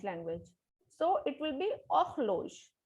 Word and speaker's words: horloge: The word is horloge, means wall clock. H is always silent in French. We will not speak H alphabet in French language. So it will be horloge, not horloge, it is horloge, wall clock.